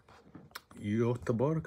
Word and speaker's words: Göteborg: Göteborg, I think they pronounce it.